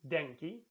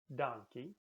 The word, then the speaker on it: Denki: heist remember i hi Thank You is Denki in some places it's donkey Genki a traditional way